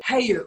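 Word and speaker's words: Hayo'u: was basically, I actually don't know how you pronounce it. Is it called Hayu? Hayu, yes.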